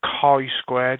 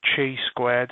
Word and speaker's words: chi-squared: so to begin with it is pronounced car you squared not chi-squared as a lot of people have been saying to make this is